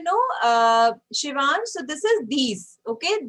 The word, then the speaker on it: dix: And you know, Shivan, so this is these. Okay, these set, not dix. So although you see D-I-X, but how you are going to pronounce it? These.